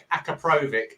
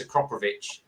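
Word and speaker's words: Akrapovič: that's the other one people say acaprovic or akra prove it it's not as akropovic is the correct way to spell it um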